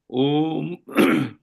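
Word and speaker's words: ॐ: ना अ उ म सो इस अ उ म का जो उच्चारण है इसको हम ओम बोलते हैं।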